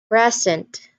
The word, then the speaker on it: present: So when it's a noun, this is a noun, this particular pronunciation of this word, present, where the stress is on the first syllable, this will be considered as a noun in part of speeches.